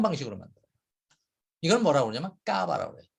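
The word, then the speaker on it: Cava: 이걸 뭐라고 그러냐면 까바라고 그래요. 까바. 야, 까바. 이 까바는 지하 저장고 케이브의 그 영어식 그 발음이죠. 그 스페인 발음이죠. 말씀드린 대로 샴페인처럼 병 속에서 병마다 하나하나씩 병마다 거기 안에서 2차 발효를 시켜요.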